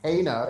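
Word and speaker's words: Kena: I still want to pronounce it Kina because of my black ass lisp and the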